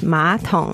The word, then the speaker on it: 马桶: for toilet, which is 马桶, and it's third tone and third tone. But when pronounced, the third tone becomes second tone. So it's 马桶, 二声跟三声, 马桶, toilet in Chinese.